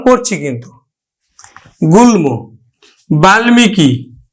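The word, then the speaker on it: বাল্মীকি: কিন্তু হচ্ছে তাহলে আমরা করতেছি এখন গুল গুলমো উচ্চারণ করছি কিন্তু গুলমো বাল্মিকি বাল্মিকি বাল্মিকি দেখো তাহলে আমরা উচ্চারণ করতেছি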